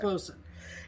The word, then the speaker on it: boatswain: So this one, that's why it was preserved to boatswain, to show where it originated from. But it's pronounced bosun.